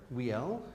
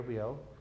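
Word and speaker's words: Wiel: W, right? It's said V, but it's spelled with a W. Yeah. Yeah, Pierre Viel.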